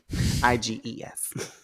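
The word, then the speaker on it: Eyghon: Iges. Even though his name is spelled with an E.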